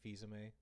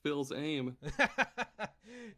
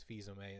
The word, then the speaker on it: Fils-Aimé: That's There how you was pronounce his last name? Yeah, Reggie Fils-Aimé. Oh my god, this whole time I've been thinking it was Phil's aim.